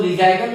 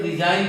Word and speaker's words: resign: आप ले सकते हैं RESIGN, इसको हम लोग रिजाइगन नहीं पढ़ के रिजाइन पढ़ते हैं। रिजाइन भी वर्ब है, मतलब होता है त्याग पत्र देना। यहां भी देखिए GN लास्ट में आया, इसलिए G साइलेंट हो गया।